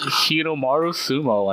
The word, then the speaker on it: Hinomaru Sumo: Okay, let's continue on into Hinomaru Sumo. I think I pronounced that correctly.